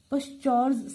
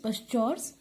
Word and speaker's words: Pschorr: करेंगे इसका नाम है पश्चौर्स सिंथेसिस। इसमें पी साइलेंट भी हो सकता है, तो उस तरह से भी आप इसको प्रोनाउंस कर सकते हैं। तो जैसे भी आप इसको प्रोनाउंस कर लीजिए, अदरवाइज पश्चौर्स सिंथेसिस।